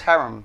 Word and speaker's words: harem: The proper word is harem. Harem. Not harem.